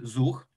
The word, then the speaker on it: Zuch: cloud service provision system in polish it's called zuch z-u-c-h we pronounce it zug but for you it's